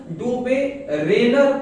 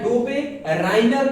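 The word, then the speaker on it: Döbereiner: अब यहाँ पे मैं बता दूं, डोबेरेनर कह दे या डोबेराइनर कह दे, दोनों बात एक ही है, इससे कंफ्यूजन नहीं होना है। ये सब प्रोनाउंसिएशन का केवल अंतर है जी।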